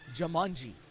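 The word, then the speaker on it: Jumanji: the near Side by by jamanji yes pronounced just like the board game Maguire has it now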